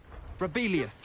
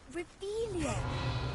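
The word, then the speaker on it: Revelio: Rebellious. You're saying it wrong. Ugh, Revelia. Much better.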